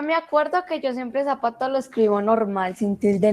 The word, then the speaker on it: zapato: Usted no dice ni zapato ni zapato. Usted dice zapato, ¿cierto? Entonces, el acento está aquí.